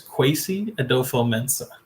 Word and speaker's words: Kwesi Adofo-Mensah: His name is Kwesi Adolfo-Mensah.